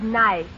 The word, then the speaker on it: knife: no the word is nice K is the silent letter K is always silent in front of n is that though